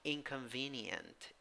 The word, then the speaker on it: inconvenient: a tiny little eye the sound is e in the second sound you have a schwa sorry in the second vowel in the second syllable you have a schwa in the third a syllable you have uh an e with a hat e and in the fourth a syllable you have schwa with why before it right so pronunciation inconvenient